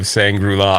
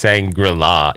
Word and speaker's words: Shangri-La: the first rule of sangrula I don't even know if that's how you say it it's Shangri-La yeah Shangri-La I think